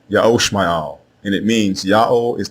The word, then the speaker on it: Ishmael: means yao is exalted the correct way to say the name of abraham's firstborn son is not ishmael it is yahoo al ya'oshma'al and it means ya'll